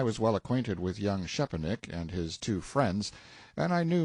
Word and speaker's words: Szczepanik: Young Szczepanik, Note 1, pronounced approximately Szczepanik; Mr.